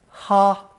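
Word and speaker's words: 哈: the mouth radical Co pronounce the first tone ha ha it originally referred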